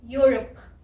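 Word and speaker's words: Europe: ओ की भी जो साउंड आ रही है वो आ रही है अ, और ये है यूरोप, यूरोप।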